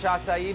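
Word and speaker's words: açaí: Acai. That is like probably the most mispronounced word ever. Every time I go somewhere, can I give them a Mackay bowl?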